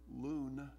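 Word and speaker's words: לון: in chapter 18 and the word Lodge as it appears in verse number nine is pronounced in the Hebrew Lon and it means to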